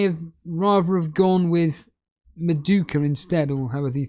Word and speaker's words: Madueke: Animation saying he may have rather have gone with Maduka instead, or however you pronounce his name. Madueke, yeah.